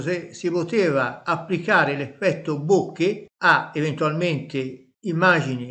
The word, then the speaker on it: bokeh: La lettera H è stata introdotta per aiutare gli anglofoni a pronunciare correttamente la parola bokeh. Io pronuncio bokeh.